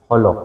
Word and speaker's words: Jolo: Uh it's Holo. Yeah, it's Holo, not not No, it's not Jolo, it's Holo. Okay, so this little tiny one you compare to Sabah.